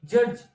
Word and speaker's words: judge: as judged judge sorry judge it should be pronounced as judge there is no crown of there is no sound of letter D in the word judge and it is pronounced